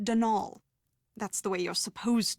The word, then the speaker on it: Donal: the caretaker denol Delaney not Donald mind you there's no D at the end so it's pronounced denal that's the way you're